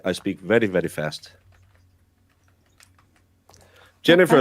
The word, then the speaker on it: Jennifer: Jennifer is also most often Lennifer in Germany. Even if they always nicknamed them Jenny, the English pronunciation. Yeah. But uh it's we would do more instead of a jen, we would do a yen with an a. Um because the j sound isn't really one we use.